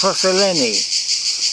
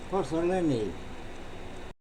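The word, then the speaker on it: Πώς σε λένε: his name in Greek, it's Posoleni. Now I'll put that on in a moment phonetically, so you can just say it as it is. Posoleni. Not as spelt, just as phonetic.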